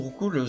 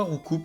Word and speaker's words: Roucoups: Du coup, je disais, l'évolution de Roucoule, ça se divise, ça se prononce pas Roucoups, ça se prononce Roucou.